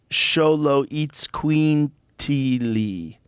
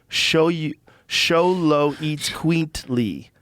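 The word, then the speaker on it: Xoloitzcuintli: Pronounced Sholo-eats-queently. Quaintly. Sholo eats quaintly.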